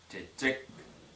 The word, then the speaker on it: чечек: Буква Ч точно такая же. Например, чечек. Как будто бы здесь две буквы Ч.